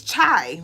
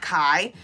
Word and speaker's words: chai: It's chai, right? It's not kai.